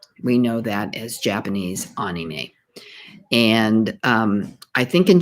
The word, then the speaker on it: anime: discussion about japanese anime and i have been pronouncing it incorrectly i've been calling it anime but it's actually anime a-h-k-n-e-e-m-a-y it's an abbreviation for the word animation